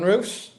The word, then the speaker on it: Roose: So starting in net for Brighton, Verbrugan and Sunderland's Roose. Have I pronounced that right, Dan? Yeah, Robin Roose.